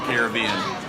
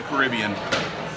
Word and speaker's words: Caribbean: for you, that celebrates the Caribbean, or the Caribbean, depending on how you say it.